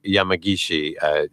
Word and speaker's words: Yamagishi: You could go and find Jimi Yamagishi. By the way, Yamagishi, and Jimi is spelled Jimi.